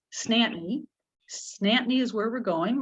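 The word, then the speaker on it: St. Anthony: town very north uh if we are all saying it's saint anthony it's a four syllable word but in newfoundland it's two syllables snapnee snapnee is where we're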